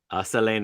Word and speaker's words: Celine: Selene is how you say it.